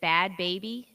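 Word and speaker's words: Bhad Bhabie: more how do you say it is it bad baby yeah bahad bahabi okay the musician claimed to have made 71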